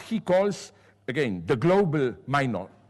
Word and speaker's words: Minotaur: calls, again, the global minotaur, how do you pronounce it in English? Minotaur? Minotaur, okay, I did it correctly, exceptionally, was born.